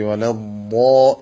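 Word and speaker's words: ولا الضالين: അപ്പൊ അലൈഹിം കഴിഞ്ഞിട്ട് രണ്ട് ചുണ്ടുകളും ഒരൽപ്പം മുന്നോട്ടെടുത്തുകൊണ്ട് വലദ്ദോദിന്റെ ഉച്ചാരണവും അതിൽ വരുന്ന തെറ്റുകൾ നേരത്തെ പറഞ്ഞു. അതെല്ലാം പരിഗണിച്ചുകൊണ്ട് നല്ല സൂക്ഷ്മമായി വലദ്ദോ എന്ന് തന്നെ പറയണം. അവിടെ ഈ പദത്തില് വാദിനും ഷദ് വേണം, ലാമിനും ഷദ് വേണം.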